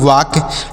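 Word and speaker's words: walk: के तो इसे पढ़ेंगे वाक डब्लू ए एल के इसे वालक नहीं पढ़ना है ल यहां पर साइलेंट है इसे नहीं पढ़ा जाएगा वाक मतलब होता है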